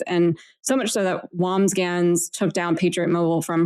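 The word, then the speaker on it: Wambsganss: The person that he was running against, Taylor, was running against a woman, Wamsgans. Is that how you say it? I think it's Wamsgans.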